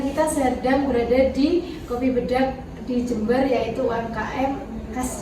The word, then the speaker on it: Bedhag: Selamat datang, kita sedang berada di Kopi Bedak di Jember, yaitu UMKM khas Jember, dengan Bapak siapa? Doni. Dengan Bapak Doni selaku Owner Bedak, bukan Bedak. Oh, Bedak. Oh, Bedak. bacanya Bedak.